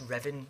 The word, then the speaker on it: Ruthven: The Riven Raid, or Ruthven Raid, usually pronounced Riven so that James can later write a poem punning on Raven.